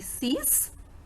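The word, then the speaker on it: six: The same rule applies on 6 also. So the pronunciation will be cease or ces élèves or ces livres.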